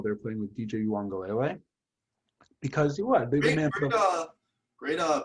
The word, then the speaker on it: Uiagalelei: Trevor Lawrence while they were playing with DJ Uiagalelei, because what they great pronunciation, by the way.